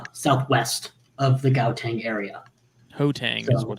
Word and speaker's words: Gauteng: Hotang is what it's he's Gauteng.